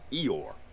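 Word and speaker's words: Ioor: I-O-O-R is pronounced Eeyore.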